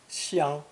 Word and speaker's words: 相: The other pronunciation for this character, first tone, xiang, is limited to the idea of reciprocal action, each other, mutually.